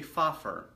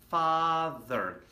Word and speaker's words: father: Some of you might say f, so instead of you saying father, you say fafer. Okay, father, no, father.